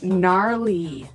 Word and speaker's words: gnarly: We heard the ski instructor say gnarly. Gnarly run. Yeah, gnarly. So, an interesting word, it's spelled Gnarley.